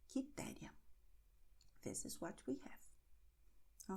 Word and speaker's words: Quitéria: Q-E, Q-I. And in these combinations, Q-E, Q-I, pay attention, the U is silent. It's going to be written but not pronounced. So you're going to have K, K, K.